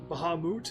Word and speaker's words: Bahamut: this game Sid doesn't know who Bahamut is Bahamut if you want to say it correctly I